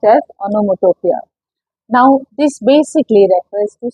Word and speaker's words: onomatopoeia: It is onomatopoeia, but pronounced as onomatopoeia.